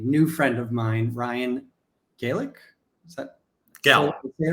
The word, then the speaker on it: Gallik: I have a new friend of mine Ryan Gaelic is that gal okay right Gaelic okay um it's like I said new friend